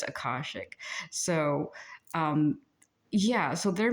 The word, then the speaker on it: akashic: I I keep wanting to say areshik but it's akashic.